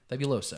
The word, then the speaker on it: Fabuloso: Fabuloso.